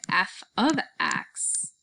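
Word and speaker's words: f(x): notation using this symbol this symbol does not mean f times x this symbol is pronounced as f of x so it does not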